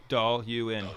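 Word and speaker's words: Dailuaine: Dahl-Ewan.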